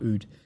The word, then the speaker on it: Rutte: Someone says the correct pronunciation of Mark Rutte is Mark Oud.